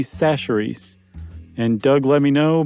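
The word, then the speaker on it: Chachere's: guys remember not but I mispronounced Tony kacheri's seasoning Creole seasoning it turns out it's Tony sacheries and Doug let me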